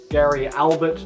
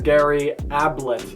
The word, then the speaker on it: Gary Ablett: his name wrong so it is not gary albert jr is gary ablett jr oh man you guys